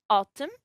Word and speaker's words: autumn: For the H in chemist and ghost, the K in knock, the L in the modal verb should, cough, talk, salmon, the N in autumn, and the P in pseudonym, and in the word psychology.